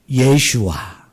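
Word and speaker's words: ישוע: 그런데 이게 헬라식 발음은 뭐일까요? 예슈아.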